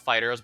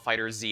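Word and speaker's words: FighterZ: Dragon Ball Fighters yes I know it's pronounced Fighters I like to call it fighter Z anyway that one's an intentional M that's an intentional mispronunciation we'll be doing that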